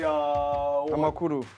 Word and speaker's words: Amakuru: Amakuru.